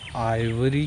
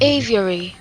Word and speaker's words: aviary: हो जाती है कि इसको एवरी कहते हैं कि आइवरी कहते हैं, नहीं आइवरी तो नहीं कहते होंगे, बर्ड एवरी, चलें उसी को कर लेते हैं। मैं इसकी एग्जैक्ट प्रोनाउंसिएशन आपको बताता हूँ। Aviary.